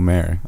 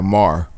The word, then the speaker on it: Maher: i did watch that bill maher mar yeah mar my like m-a-h-r is that how you spell it like m-a-r mar like like but that's not how you spell his name but that's how it is hey you know what